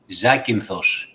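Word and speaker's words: Zakynthos: We have a Greek in our so you pronounce it Zakinthos.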